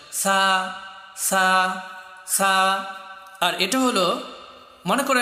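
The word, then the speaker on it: ث: সময় তোমার জিহ্বার আগা, সামনের উপরের দুইটা দাঁত যে রয়েছে সামনের, এই দুই দাঁতের আগার সাথে গিয়ে এটা উচ্চারণ হবে সা সা সা।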